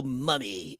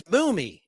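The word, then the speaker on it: Mumy: He said Bill Mummy. It's Boomy, and it's an easy mistake to make.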